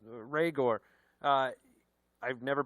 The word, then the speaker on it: Rhaegar: whether it's jefferson whether it's judy whether it's rhaegor uh i've never pronounced it that way targaryen yes rhaegar targaryen but it can happen quick is my